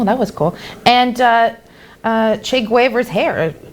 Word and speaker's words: Guevara: And Che Guevara's hair. How do you pronounce it?